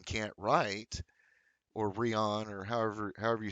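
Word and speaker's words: Rian: going back to how Ryan can't write, or Rion, or however you say his name. I know it's Ryan.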